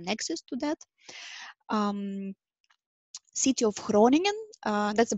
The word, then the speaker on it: Groningen: to that city of groningen that's a pronunciation how you pronounce that it's Dutch pronunciation scrolling and like you have something in your throat basically but it's that's how